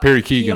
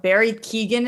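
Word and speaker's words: Barry Keoghan: and just didn't know barry keegan is how you say it i believe so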